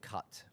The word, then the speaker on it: khat: When you say cut, what does that mean? It's spelled Khat, and it is a leaf.